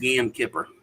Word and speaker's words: Yom Kippur: It's pronounced Yom Kippur.